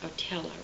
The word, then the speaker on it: Otello: We're talking of course about Shakespeare's tragic hero, a fellow who also represents in Verde's beautiful opera Otella, which is the Italian pronunciation.